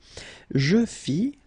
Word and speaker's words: fis: Je fis, final S not pronounced.